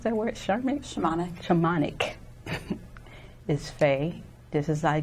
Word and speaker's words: Shamanic: And today's guest we have who is a Reiki, a psychic medium, and how you pronounce that word? Shamanic? Shamanic.